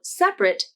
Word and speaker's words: separate: a requirement you should pronounce the adjective form of separate as two syllables and the verb form of separate as three syllables this word begins with